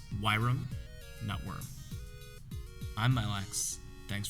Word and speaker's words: Wyrom: or the heist and remember it's pronounced yram Network I'm my Lex